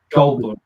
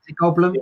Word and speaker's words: Goldblum: Goldblum. Goldblum.